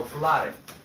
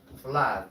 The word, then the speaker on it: flood: Where the two O's sounds like What other word?